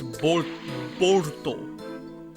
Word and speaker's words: Boruto: But anyway, the Japanese pronunciation of Bolt is Borto or Borto, which when pronounced in English looks like Boruto, but it's Borto.